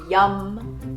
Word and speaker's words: yam: The Bija mantra for the heart chakra is YUM. So this is spelled Y-A-M, although it's like yum, I just ate some food.